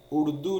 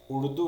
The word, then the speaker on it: اردو: نہیں پتا کہ URDU تو اس میں اردو نہیں ہوتا، یہ اردو ہوتا ہے۔ اب آپ کو کون